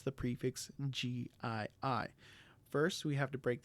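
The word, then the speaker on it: gii-: The prefix GII is not pronounced G like the word gene. So how do we pronounce the prefix GII?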